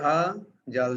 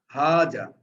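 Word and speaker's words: هذا: কিন্তু এটাকে উচ্চারণ করি আমরা হাজা, হায়ের উপরে একটু টান দিয়ে দিচ্ছি, কিন্তু হাজা না বলে হাজা বলি। তার মানে এটা প্রকৃতপক্ষে উচ্চারণ করা হচ্ছে হায়ের সাথে একটা আলিফ যুক্ত করে একটা জবর দেওয়া হচ্ছে, হাজা।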